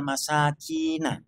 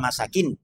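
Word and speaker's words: المساكين: shadaqatu lil fuqara'i wal masakin. Wal masakin. Nah, orang itu tadi membacanya mursalan. Jadi mengabaikan panjangnya. Jadi umpamanya saiki contohnya umpamanya inna masadaqatu lil fuqara'i wal masakin. Nah, ini enggak merubah makna.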